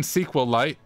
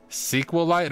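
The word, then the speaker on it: SQLite: Using SQL light SQL light What sounds better? Sequel light or SQL light? Using SQL light SQL ite, however you want to say it.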